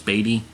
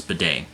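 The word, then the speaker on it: Badie: I'm hearing is how his last name is pronounced I thought it was I thought it was batty but apparently the commentators did not get it wrong yesterday's in yesterday's game it's Beday um so bedet carried nine times for 70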